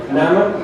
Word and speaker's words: Naman: So the application is called Nahuatl Naman, which means Nahuatl Today. The N at the end is not pronounced, and if you download the application, it's free on the Play Store already.